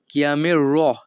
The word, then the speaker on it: chiamerò: chiamerò উচ্চারণটা হবে এমন chiamerò।